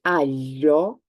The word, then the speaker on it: aglio: If you cannot, at the beginning at least, make the sound Y, at least do not pronounce the G. Go for an L, but not G. So this is, I'm going to, as I said, exaggerate the sound a little bit. This is aglio.